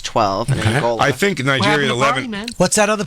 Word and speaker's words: Niger: It's a soft G. Niger.